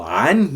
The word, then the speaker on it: عن: So عن here, it means about. Note the pronunciation of the letter عين.